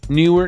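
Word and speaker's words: Neewer: move on from there newer knw that's how you pronounce it knw it's a two syllable thing knw is the has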